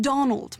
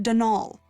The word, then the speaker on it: Donal: caretaker Donald Delaney not Donald mind you there's no D at the end so it's pronounced danal that's the way you're